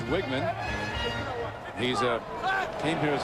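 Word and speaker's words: Wiegmann: He was Wegman until recently, but guess the family pronunciation is Wiggman.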